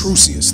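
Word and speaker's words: Crusius: How you pronounce his last name, homie? Is Patrick Crucius? Crucius, thank you, Patrick Crucius.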